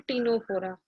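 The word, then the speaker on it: Ctenophora: थोड़ा सा डिफरेंस रहेगा, उसको हम बोलते हैं टीनोफोरा। उसमें कुछ स्पेसिफिक फीचर्स हैं जो इससे थोड़ा सा डिफरेंट हैं। लाइक इसको एक तो इसमें टी साइलेंट, सी साइलेंट रहेगा, इसको हम टीनोफोरा बोलते हैं।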